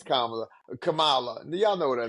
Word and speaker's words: Kamala: the Republicans when they when they mispronounce her name they do it on purpose I know they do but y'all know her name is KLA Kamala y'all know what her